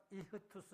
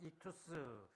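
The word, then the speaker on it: ἰχθύς: 그래서 요걸 발음하여 이흐투스 혹은 익투스 그러는데 이 익투스라는 말이 헬라어로 물고기예요.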